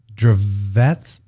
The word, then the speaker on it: Dravet: And I tell you, we are talking about, and I mispronounce this every time, Dravet.